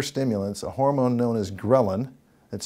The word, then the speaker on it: ghrelin: more potent hunger stimulants a hormone known as ghrelin that's spelled g-h-r-e-l-i-n is normally released in greater amounts